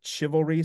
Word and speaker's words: chivalry: changeless and straight um would say CH chivalry would have been pronounced probably more like chivalry so that's the chassity